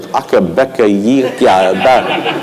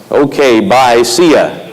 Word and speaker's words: OkbyeCya: There's a horse that runs here at Saratoga named it's spelled OkbyeCya, and I looked at it a few times like Akabeka Yikya, and I realized it's okay, bye, see ya.